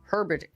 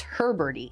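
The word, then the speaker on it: heberti: So the research team that analyzed the fossil named the species Tyrantor Herbert Tyrantor Herberty. So I said it wrong before I said he because I misspelled it in the script. It's Herberty.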